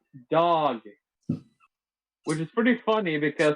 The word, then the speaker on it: Dag: norwegians called dag dog it's pronounced dog which is pretty funny